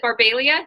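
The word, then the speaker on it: Barbaglia: I was just call her, but is it Barbalia? Did I say it right? Yes. Yes. Um, do people mess it up all the time? All the time. All the time. Because there's a All the time. silent G in there.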